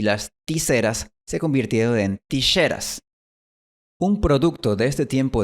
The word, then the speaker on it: tijeras: Así que estas 3 palabras dejaron de pronunciarse Mexico, chabón y tijeras y empezaron a pronunciarse México, jabón y tijeras.